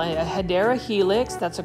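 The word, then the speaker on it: Hedera helix: another HRA helix or what you call it hadera Helix that's the correct way to say English ivy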